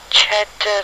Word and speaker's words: Ched: some of course a big name and they pronounce that chad laura isaacson c-h-e-d isaacson who died february the 9th 1911 age 61.